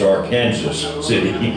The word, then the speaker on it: Arkansas City: And that lady said, first of all, it's Arkansas City. But the way it's spelled, it's fooled many people.